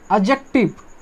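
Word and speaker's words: adjective: एडजेक्टिव, एडजेक्टिव इसमें D silent होता है, क्या साइलेंट होता है हमारे प्यारे दोस्तों, डी साइलेंट होता है।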